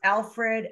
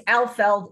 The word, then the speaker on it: Alfeld: So anyway, it's Alfeld. It's Alfeld.